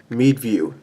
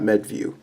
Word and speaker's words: Meadview: It's pronounced Meadview, not Medview.